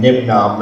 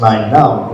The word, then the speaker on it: Nien Nunb: JJ Abrams calling him Nim Nom and and guys so but it it is is actually pronounced n num like number nine because he was number nine on the creature list before he became a